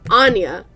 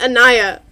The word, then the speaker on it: Anya: Wait, I've been saying it wrong this whole time. It's Anya. Oh my gosh. Jeez. They were referring to the lighthouse as Anya, weren't they? Not Anaya.